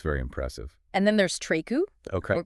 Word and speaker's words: Treku: And then there's Treku, Okay. or pronounced Treku, and they have such a rich history in woodworking and craftsmanship.